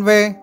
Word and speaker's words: V: thông tin về vaccine V. Trên các phương tiện truyền thông của Việt Nam vẫn đọc là vaccine 5, song thực ra nó là V, viết tắt của chữ Victoria.